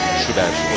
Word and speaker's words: Joubert: Güvendel Palitezer'e bir anda Schubert dedi, ancak şunu hemen belirttim, kendisi basın toplantısında 2003'te Malmö'de söylemişti. Brian Schubert olarak telaffuz etmenizi rica edeceğim demişti basın toplantısında. O yüzden Brian Schubert diyorum.